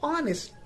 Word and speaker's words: honest: it is not and in honey it is pronounced and in honest it is not and in hong it